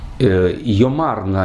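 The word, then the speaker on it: יֹאמַר נָא: Йомарна – это обычное произношение, обычное ударение, но из мелодических соображений в псалме лучше сказать йомарна, то есть ударение на, просительная частица на, и тогда ударение, значит, поскольку эти два слова произносятся без паузы, интонационная единица, то ударение с второго слога Йомар переходит на первый, чтобы не было двух ударений подряд. Такое облегченное ударение, ослабленное.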